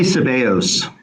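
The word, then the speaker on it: Sebeos: to bring up is sibios if if I'm pronouncing that correct is it sibios I I would say seos seos Okay I want to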